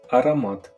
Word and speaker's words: аромат: The correct pronunciation for this word is аромат. Аромат. А-ра-мат. А-ра-мат.